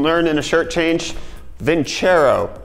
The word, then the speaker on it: Vincero: in a shirt change vin chair oh not vince arrow my dumb American brand likes to pronounce things incorrectly but let's talk about